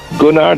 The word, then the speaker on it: Gunnar: Gunnar, that's like a gun, Gunnar, and Garfors is Garfors.